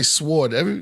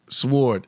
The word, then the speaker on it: sword: We say sword. You pronounce the W with it? Sword. It's sword, right? W is always silent, like knowledge. Yeah. W is silent.